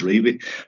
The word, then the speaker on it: Revie: But honestly and truly, and I've spoken with family members of Dons, and the answer has always been yes, it's pronounced Revie.